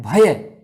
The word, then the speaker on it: भय: जैसे कई बार हम बोलते हैं भय, हम क्या बोलते हैं? भय बोलते हैं, भय। जैसे भय के ऊपर आई की मात्रा लगा दी हो, जबकि उसका उच्चारण क्या है? भय।